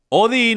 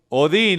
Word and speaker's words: Odín: libros enciclopedias e historia odín o algunos lo pronuncian votan era el Dios de